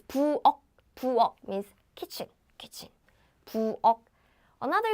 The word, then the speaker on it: 부엌: Again, it's not 부엌. It's 부엌.